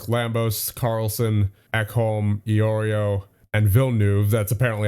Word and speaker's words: Villeneuve: You got York, Lambos, Carlson, Ekholm, Iorio, and Villeneuve. That's apparently how it's pronounced, from what I was told in the comments.